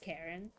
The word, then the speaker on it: Charon: Charon is pronounced Karen. I don't think so.